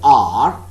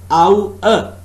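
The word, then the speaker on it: hour: It is written Tour, okay, or H-O-U-R. It is also pronounced as R, but over there in the dictionary, the exact pronunciation is Ow-er.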